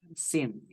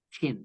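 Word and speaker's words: شين: Dan shin jangan dibaca sin. Dibacanya harus shin ya. Tidak dibaca sin.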